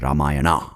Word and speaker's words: Ramayana: It's called Ramayana or Ramayan. I don't know why I'm giving you a north and south pronunciation.